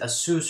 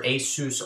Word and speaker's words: Asus: then it has um however you want to pronounce it Asus or Asus on the bottom right here I believe most